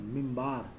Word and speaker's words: minbar: Qibla, and the pulpit, the minbar, pronounced the mimbar, from where the sermons were delivered during noon prayers on Friday.